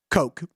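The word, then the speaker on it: Koch: his first name's Kevin his last name spelled k c pronounced Coke Kevin Coke there you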